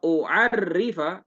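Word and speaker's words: أعرّف: Dibacanya salah dikit itu bisa berbeda. A'rifa ya, kalau a'rifa ini kayak di sini di bawah, ini artinya aku tahu. Tapi kalau u'arrifa aku ingin memperkenalkan.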